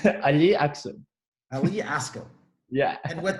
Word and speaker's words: Ali Aksu: It's Aya Aksu. I'm going to pronounce it right. Aya Aksu.